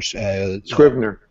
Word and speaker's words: Scrivener: they'll use, I don't know if I'll pronounce it right, but Scrivener or... Scrivener.